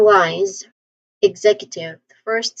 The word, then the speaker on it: executive: Instead of X, we say egg.